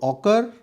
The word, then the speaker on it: ochre: इसके उच्चारण British English और यूएस इंग्लिश में अलग अलग हैं। आप स्पेलिंग याद रखें, OCHRE। तो ऑकर या ऑक्रे कलर्ड पोट्री।